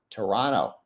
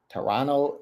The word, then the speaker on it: Toronto: Free care and read from Toronto. Nice. Toronto. Turtle writers. The second the second T is silent in Toronto.